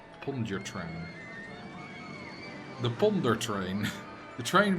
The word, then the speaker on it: Pontchartrain: I think Lake Pontchartrain Causeway in New Orleans.